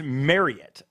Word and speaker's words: Marriott: and it's like it is big misconception on the pronunciation of it really it's Marriot Marriot and you Google it this is like uh Reese's Reese's right yeah controversy so it's marry it and and I've just